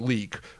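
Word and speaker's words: Leyak: The Penangalan, the Karasu, and my favorite, the Liak, which is actually pronounced leek, which is, if anyone's ever seen Mystics in Bali, Chris, I know you and I have watched it.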